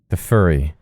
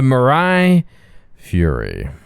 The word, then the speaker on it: Mirai Fury: I keep saying it wrong. The Fluffy. The Furry. The Mirai Fury.